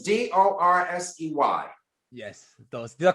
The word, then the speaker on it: Dorsey: Yes, and it's Dorsey. Yes, Dorsey. Did I pronounce it correctly?